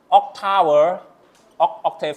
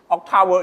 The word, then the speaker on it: Octave: Octave is the pronunciation in Germany with my colleagues. In English, we would say octave, okay? Octave. My German colleague, my former German colleague, pronounced it octave because in German they pronounce every vowel.